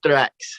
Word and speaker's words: Thrax: have a southern accent, but you pronounce your name correctly so everybody can say it right. It's thrax.